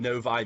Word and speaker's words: Novi: I'm looking for the best darn loan officer in Novi, Michigan.